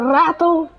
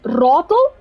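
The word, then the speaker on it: Ratel: He said the rattle 90 or something like that. But now, how you would say it is rattle 90.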